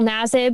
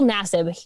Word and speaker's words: Nassib: just totally botched it carl nasib that is his pronunciation so if you hear anyone else say it differently i've listened to him